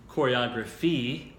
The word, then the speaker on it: choreography: The noun is choreography, kind of like photograph and photography. The pronunciation completely changes.